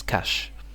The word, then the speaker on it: cache: confuses many people uh it looks like cache or catch but it's cash so yeah it's just cash and this one says